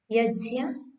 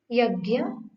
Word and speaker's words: यज्ञ: ज्ञ प्राय करके भाषा में हम इसका उच्चारण घ्न करते हैं, जो कि ठीक नहीं है, क्योंकि इसमें जो वर्ण है वह है ज, य, अ। ज, य, अ, ज्ञ। अतः इसका उच्चारण ज्ञ होना चाहिए, यज्ञ, ज्ञान, न कि यज्ञ, ज्ञान।